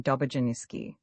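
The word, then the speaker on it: Dobrzyński: Thus the proper name of Dobozinski is pronounced as if written Dobojiniski.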